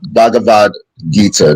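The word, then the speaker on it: Bhagavad Gita: with jesus second thing that's totally unique it's pronounced bhagavad-gita not bad hey but but i i like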